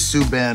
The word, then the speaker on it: Subban: PK, I still don't think your name is pronounced Subban. It is Subban, actually.